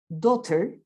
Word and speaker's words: daughter: be careful in english normally you write more letters than the sounds you produce for example i will give you this word daughter you have one two three four five six seven eight words eight letters one two three four five six seven letters sorry seven seven one